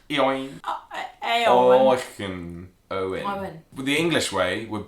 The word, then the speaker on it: Eoin: Like Eoin. Eoin. Owen. Owen. The English way would be Owen. Owen. But Irish spell it likes differently.